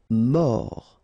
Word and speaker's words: mort: Dangereux mort. Final pronounced o r.